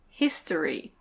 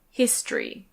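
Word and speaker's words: history: The next one is "his-to-ry". His-to-ry. Lots of native speakers do say it like that, but I'd say it's more common to say it with two syllables: his-try.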